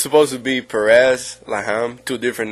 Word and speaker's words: Perez Laham: Now, I've been saying all year, I've been saying Perez Laham. Am I mispronouncing it? No. No, I think that's fine.